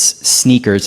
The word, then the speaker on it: SNKRS: It's sneakers. It's spelled SNKRS.